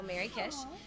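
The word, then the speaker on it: Mrykish: uh, under my name, but it's spelled M R Y K I S H. So, Mary Kish.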